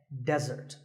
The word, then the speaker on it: desert: of a meal and it should not be confused with desert here the stress is on the first syllable which is death desert now I said that